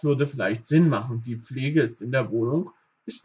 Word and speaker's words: Pflege: Ihr könnt auch dieses P ein bisschen weglassen, aber am besten zum Anfang Pflege, die Pflege.